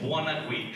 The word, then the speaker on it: Buonaguidi: Everyone knows that's spelled. That's how you say it, Buonaguidi.